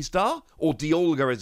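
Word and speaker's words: Dialga: that one of the v star here is diago v star or d olga as it's actually pronounced but that's just super weird to me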